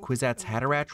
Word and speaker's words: Kwisatz Haderach: I know all words are made up, but Kwisatz Haderach rhymes with knick-knack paddywhack, and we should all laugh at that.